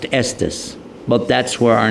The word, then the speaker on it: Estes: Today it's pronounced Estus, but that's where our name came from.